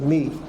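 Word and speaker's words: Mii: And the name of the car is a Me, and it's spelled M-I-I.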